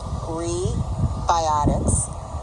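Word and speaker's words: Rebiotix: pdi healthcare gold sponsor rebiotics pronounced gree biotics a fury company gold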